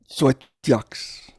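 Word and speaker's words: Xoeteox: His 10 books of poetry include, I still don't know how to pronounce it, Edwin, Zoetox, how do you say it? Zoetox.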